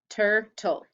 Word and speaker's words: turtle: It's consonant L, E, and the E is silent. Turtle.